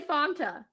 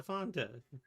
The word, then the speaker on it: Fanta: Now that we're talking about it, you say Fanta. Don't you want a Fanta? That's not how it's pronounced, and I just learned that. It's Fanta.